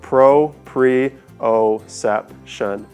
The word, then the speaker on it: proprioception: It kind of sounds like proprioception. So it's a 5-syllable word, and then the receptor for those is called proprioceptors.